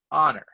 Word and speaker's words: honor: Because sometimes the H is silent and sometimes the U sounds like and sometimes the U sounds like you, right? So for example, a house, but an hour. A horse, but an honor.